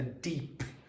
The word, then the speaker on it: deep: A deep. A deep understanding. A deep. Okay, so you need that last consonant.